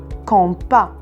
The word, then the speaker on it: compas: Alors, comme vous voyez les enfants ici, le mot compas se termine par S. Ici, S est une lettre muette, alors on ne doit pas la prononcer. On dit un compas.